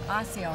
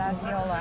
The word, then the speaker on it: Osceola: Then Osceola, that's right, not Osceola. I think I mispronounced that.